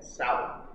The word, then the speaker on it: Samhain: S-O-W-E-N, Samhain. That's how it's pronounced. Samhain is the Druid name for what you call Halloween.